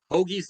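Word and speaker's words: hoggee: i see it written we always spell it h-o-g-g-e-e hogie's the way we pronounce it um you know i've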